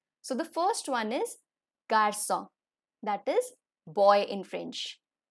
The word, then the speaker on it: garçon: So the first one is garçon, that is boy in French, garçon. So the pronunciation is G, A, R, C, O, N, garçon.